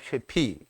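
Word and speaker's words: שְׁפִי: 쉐피. 이게 쉬는 이게 쉐가 발음이 되죠. 그리고 피는 폐인가요? 이 폐, 쉐피.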